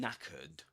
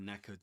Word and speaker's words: knackered: That's what knackered means. And and you write it like this. Knackered. Knackered. And here in this word, the K is silent. We don't pronounce it.